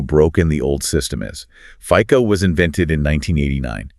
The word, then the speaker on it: FICO: In the US, that's pronounced FICO, right? It's the standard credit score system. Correct. F I O pronounced FICO.